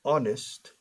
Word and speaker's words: honest: And I say a vowel sound because the word honest or the word honor, honesto, honor, honorable, empiezan por H, consonante, pero la H muda.